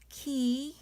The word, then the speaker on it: 키읔: So pronunciation is 키읔. 발음은 키읔.